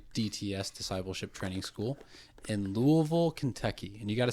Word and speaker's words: Louisville: I ended up going and doing my DTS, Discipleship Training School, in Louisville, Kentucky. And you got to say that right. It's Louisville. Don't pronounce half the word.